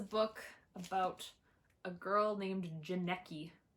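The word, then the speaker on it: Janneke: This is a book about a girl named Janecki, rhymes with Jared Padalecki, who is trapped in like the goblin world as a slave to goblins.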